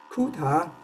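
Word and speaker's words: Kutta: I'm not American, so I read it as Kuta-Joukowsky, but the Americans would read it as Kata-Joukowsky. Since I guess most of us are not Americans here, we can laugh at them for pronouncing it the wrong way.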